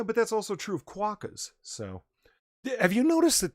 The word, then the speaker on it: quokka: You can't say quacker. It's actually written quokka. Are you saying cracker in Australian? I don't know what's I happening know. right now. No, look it up, Jack. It's called quokka. It's spelled just like you think.